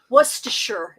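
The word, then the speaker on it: Worcestershire: Wor sure is actually how it is pronounced.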